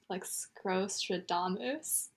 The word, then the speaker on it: Scrostradamus: Yeah, there's one for Sack that was like Scrostradamus. Right? Oh yeah, I actually know him too. Right? Okay, you say that, but it's like Nostradamus, but with scroll.